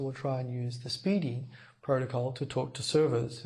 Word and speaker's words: SPDY: of all this protocol called speedy spdy pronounced speeding speedy is an experimental